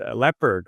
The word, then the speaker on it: Lepard: got a really cool guest it's uh leopard I think yeah that's your name right that's how I pronounce it right yeah and you are from